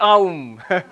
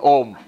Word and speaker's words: Om: if you combine them together you get not um a little knowledge is a dangerous thing before you knew this you are pronouncing it correctly you're saying ohm moment you say aha it is our uma